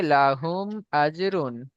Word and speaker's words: লাহুম আজরুন: লাহুম আজ, হাটাকে আপনি হুম হয়ে যাচ্ছে, মানে গলার মধ্যে দিয়ে চলে আসছে, বড় হার মতো উচ্চারণ হয়ে যাচ্ছে, ওটা করলে হবে না। ছোট করে বলতে হবে লাহুম আজরুন।